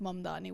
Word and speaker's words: Mamdani: And I loved at the end where Mamdani was like, and by the way, my name is pronounced Mamdani with an M and an N at the end, right?